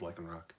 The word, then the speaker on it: Lycanroc: Lycanroc? No, it's Lycanroc.